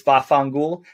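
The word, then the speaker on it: vaffanculo: and again forgive me the pronunciation it's most often heard is bafangul quite honestly it means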